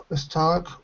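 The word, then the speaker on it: stalk: folk e is cold is St stock with the walk exactly stock walk exactly the same that's right excellent did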